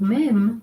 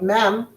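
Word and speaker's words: מ: Again, this is going to have that The base sound of mem is m. With an e vowel, it becomes me, as in method.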